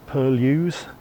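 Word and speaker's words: Purlieus: headed off to Bedford Purlius wood, or as I'm told it should be pronounced Bedford Purlius wood.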